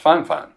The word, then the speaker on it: Fifine: It's spelled F I F I N E, but per their communicate official communication with me, it's pronounced fine fine. So, the fine fine K68 CT dynamic microphone.